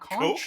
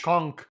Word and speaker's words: conch: I learned that it's pronounced coke, not conch. Conk.